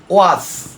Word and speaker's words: watch: তদ্রুপ আবার যদি টি এর কথা বলি, ওয়াস, এটি কি ওয়াস, WATCH, এই টিটা কিন্তু অনুচ্চারিত।